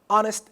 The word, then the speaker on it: honest: and bomb the same honest and hope here it is pronounced and in honest it is not pronounced so it is different